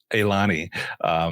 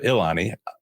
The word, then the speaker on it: Elani: What a great name for trying to tell me how to pronounce Elani instead of Ilani.